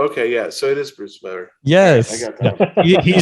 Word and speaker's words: Bruce Weber: It rhymes with truth never. Oh, okay, yeah. So it is Bruce Weber.